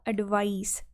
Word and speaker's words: advice: बट जब आप इसको एज अ नाउन बोल रहे हो तो क्या बोलते हैं हम हमेशा इसको, एडवाइस, स के साथ।